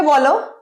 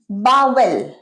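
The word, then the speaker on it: bowl: sweet and সা next word bile ভুল অনেকে বল বাবেল ভুল এটা কারেক্ট নয় কারেক্ট কি বোল বোল বোল যেরকম স্পেলিং সেরকম উচ্চারণ বোল বাটি বড় বাটি বড় পাত্র আরেকটা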